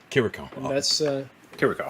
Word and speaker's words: Chirico: is that correct uh in the show it's pronounced kiriko kiriko that's uh here we go that's how I've